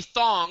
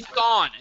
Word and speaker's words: Thawne: It's not Eddie Thong. It's not Eddie Thorne. It's Eddie See? Eddie Thawne. T-H-A-W-N. It's also saying same thing as Thong.